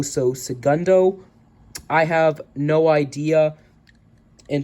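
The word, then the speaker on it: El Segundo: e l and then see e-l-c Segundo it's pronounced c e g u n d o so Segundo I have no idea in terms of what's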